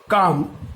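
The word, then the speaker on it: calm: একইভাবে আমরা যদি এল সাইলেন্ট লেটারে আসি তাহলে দেখা যাবে ওয়াক, আর্মস, টক, কাম এর প্রত্যেকটা ক্ষেত্রেই কিন্তু এল সাইলেন্ট লেটার হয়ে আছে, অর্থাৎ এর এলটার উচ্চারণের কোনো ব্যবহার নেই, কিন্তু বানাম লিখতে গেলে কিন্তু এর ব্যবহারটা করতে হবে।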